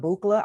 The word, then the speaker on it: Buchla: She just gave us a little back history about how she connected with Don Buchla.